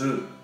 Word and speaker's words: œuf: 3 œufs. 3 œufs. Lembra, o singular des ovos em français, c'est un œuf. Un œuf. Você pronuncia o F.